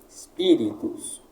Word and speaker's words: Spiritus: Braquia no ri, sílaba tônica i. Spiritus.